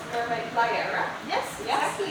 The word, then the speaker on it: Liara: Who also has a mermaid name called Mermaid Liara. Yes, exactly.